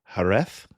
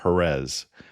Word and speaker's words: Jerez: And the other city is j e r e z, Jerez or Jerez. I'm going to tend to say it with a th sound just because that's what's